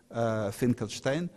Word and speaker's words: Finkelstein: But what is really strange, that it is really Yiddish pronunciation, Finkelstein, because in German it would be Funkelstein, or Funkenstein.